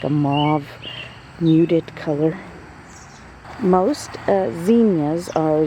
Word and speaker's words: Zinnia: So it's pronounced Zinnia, but I always say Zinnia. I think it's correctly Zinnia, but I just can't say it that way.